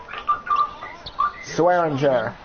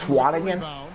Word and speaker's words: Swanigan: Swearinger, that's Swanigan? Wow, I've been saying that name wrong the whole time.